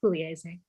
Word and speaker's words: Pugliese: My family anglicizes it to Pugliese, but yes, in Italian it's Pugliese.